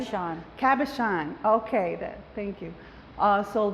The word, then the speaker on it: cabochon: The carbonate, the glass. I know you use those too. Yeah. I can't pronounce it correctly. Cabochon.